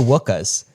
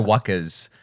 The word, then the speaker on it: wuckers: No, so it said no wuckers. No wuckers instead of wookers.